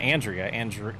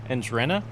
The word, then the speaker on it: Andrena: It's not Andrea. Andrena.